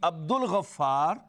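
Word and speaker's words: عبد الغفار: But people have named Abdul Ghaffar and Abdus Sattar. Here, lam is not pronounced, but here it is pronounced.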